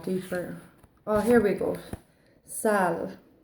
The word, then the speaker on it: Saille: Sal, which is actually my nickname, which is funny enough. But this is spelled Saille, which is the Irish for the willow tree.